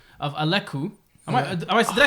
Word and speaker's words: Alakkuu: I'm like, So and you pronounce it Alakkuu. Alakkuu.